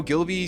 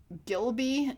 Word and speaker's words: Ghibli: Do I do a cozy Studio Ghibli style video of Bilbo's birthday with Gilby? Does he mean Ghibli? Instead of Gilby, does he mean Studio Ghibli? Is that what he means? He mispronounced it.